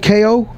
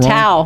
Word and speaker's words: Tao: And then we went out to, what was it called, KO at the Venetian? KO? Could be saying it wrong. Tao.